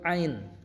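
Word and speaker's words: عين: Selanjutnya huruf ain. Nah, ini a ini ada di laklakan ya atau di langit-langit. Jadi kita bacanya a ya bukan a.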